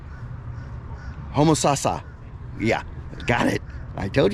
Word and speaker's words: Homosassa: So again, I mean no disrespect trying to pronounce like Homo sapien, Homo shasha, Homo susha, yeah. That last town that I went to, I know in an earlier video I said the name right, but Homosassa.